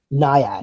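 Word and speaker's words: Nyad: Uh, best actress in a leading role, Annette Benning, uh, for Ni, how do you pronounce that? Niad. Niad.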